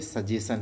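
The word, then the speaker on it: suggestion: सजेस्टन लिखना होता है, S साइलेंट रहता है, और पढ़ते सजेशन है, बस इतना ध्यान रखना है।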